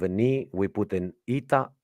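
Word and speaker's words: ήτα: this letter is actually called ITA that's how it's called ITA so that's why here it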